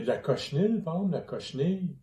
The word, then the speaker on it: cochenille: Il y a de la cochenille, par exemple, la cochenille, coquenille, Cochenille. cochenille. Il me semble que ça se prononce Ouais. cochenille.